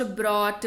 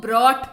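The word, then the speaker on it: brought: Bring, ब्रॉट, ब्रॉट, bringing, यहाँ इसको ब्रॉट पढ़ते हैं। इसके पहले जो पढ़ा है उसको बॉट पढ़ते हैं, इसको ब्रॉट पढ़ते हैं। र का यहाँ पर उच्चारण आता है, आपकी सुविधा के लिए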